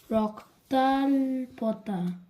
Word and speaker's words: রক্তাল্পতা: হ্যাঁ, ওটা শর্টে লিখে ওরমভাবে উচ্চারণটা ওই হবে। পড়াশোনা করছে ছেলে, রক্তাপ্লতা, স্বাস্থ্য নিয়ে বসে পড়েছে। রক্তাল্পতা, আচ্ছা ঠিক আছে, তুমি প্রথম দিকে দেখো, প্রথম